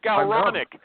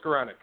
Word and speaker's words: Skowronek: Scaronic. Scaronic. He doesn't say it like that. How do you say your name? Scoranic.